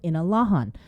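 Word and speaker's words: Inalåhan: by senator telotaidegi to officially change the name of inner rohan to its chamorro pronunciation of inalahan session begins at ten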